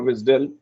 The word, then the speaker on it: WSDL: of another xml schema called as wsdl or wisdom is what we pronounce it if you see the